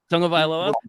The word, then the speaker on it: Tagovailoa: Tagovailoa. It's spelled weird.